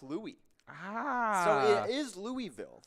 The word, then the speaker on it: Louis: what's gonna call it a name for the French King and it is pronounced Louie ah so it is